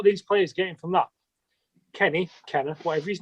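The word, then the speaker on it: Kenneh: who's sorry okay i i i don't know how you pronounce his name he's k e double n e h in it kenny yeah it's going to be kenny this this is my this is what boils my piss without under 23.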